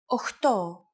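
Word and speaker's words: οχτώ: Sometimes, though, especially in casual conversation, Greeks also use efta instead of epta, ochto instead of okto, and enea instead of enea.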